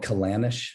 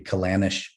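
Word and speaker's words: Ceanannas: A lot of the reason why there's two names is because you have like the Gaelic original Gaelic pronunciation and then you have like the more a anglicized uh English pronunciation. So the English pronunciation would be Kanish.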